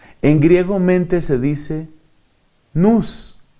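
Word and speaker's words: νοῦς: En griego mente se dice nous y se escribe N-O-U-S. Se pronuncia nous.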